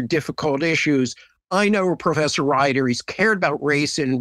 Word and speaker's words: Rieder: You know, my whole life, people have gotten the spelling and the pronunciation of Rieder, Rieder, so I'm used to it. But thank you. Yes, Rieder.